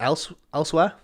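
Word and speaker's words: Elsweyr: I think it's pronounced elsewhere, like somewhere else, but it's spelt like in a nice high fantasy way.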